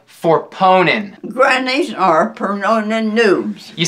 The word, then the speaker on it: pwning: for ponin for ponin for Pon grannies are pronin noobs you said pronin again it's okay you'll get it don't don't get discour are ponin for ponin for ponent you'll get it now I I